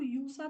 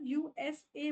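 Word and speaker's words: USA: बी बीसी यूएसए आप इसको यूसा तो नहीं बोलते ना यूएसए को आप यूसा तो नहीं बोलते है ना यूएसए बोलते हो पर यहां पे आप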